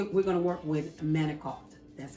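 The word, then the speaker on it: manicotti: but so we we're going to work with manokult that's how you say it okay all right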